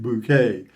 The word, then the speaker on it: Bucket: patricia rutledge played hyacinth bucket bouquet yeah and always insisted on pronouncing it bouquet because it sounded classier in her younger days patricia